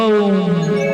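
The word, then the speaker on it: ওঁ: মন্ত্র বললেই প্রথমেই ওম ওম, যেটাকে আমরা ওম বলি, কথাটা তো ওম নয়, ওম। ও উ ম, ব্রহ্মা বিষ্ণু মহেশ্বর।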